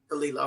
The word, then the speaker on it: Khalila: And the proper pronunciation is Khalila. Am I saying Khalila, right? yes, ma'am. Khalila.